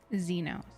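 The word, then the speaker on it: Zenos: Xenos. That's how you pronounce it.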